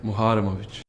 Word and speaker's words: Muharemovic: This is how he pronounces it. Darik Muharovich. There you go. And one more time. Darik Muharamovic.